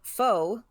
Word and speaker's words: faux: I only know 2 words, but the same element is silent. It's faux and faux pas.